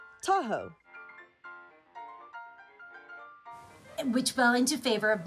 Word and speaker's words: Tahoe: And it sounded like da-o, Tahoe.